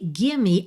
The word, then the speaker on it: gimme: Aqui, gimme, atenção, que gimme é a contração de give me. Então, esse E final tem que ser pronunciado, tá? Muitas vezes aí a gente não pronuncia o E final em muitas palavras, mas aqui esse E tem que soar, ok?